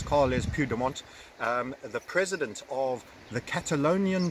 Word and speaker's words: Carles Puigdemont: Carlos Puigdemont. Now that pronunciation is almost certainly wrong, but I'll try once again. Carles, because it's a L-E-S, Carles Puigdemont, the president of the